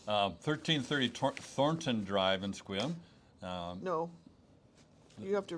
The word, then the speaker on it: Sequim: Okay, now we're just Squim. It's okay. Squim. Squim? Well, yeah, we don't pronounce the E.